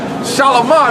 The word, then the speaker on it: Shalamar: Shalamar, that's how you say it.